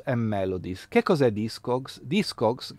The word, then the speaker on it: Discogs: Discogs, che si pronuncia Discogs, è un portale all'interno